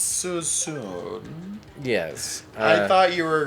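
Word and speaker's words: Suisun: right next to susumu and it looks like suey sun and it's pronounced susu it's so soon yes i thought you were going for a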